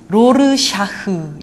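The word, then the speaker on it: Rorschach: 나중에 그런 부분들이 나옵니다 로샤 로샤 리을 사람 이름이라서 발음이 좀 어려운데요 rorschah 로샤 로르 샤흐 이렇게 발음을 합니다 러시아 검사이 잉크 반점처럼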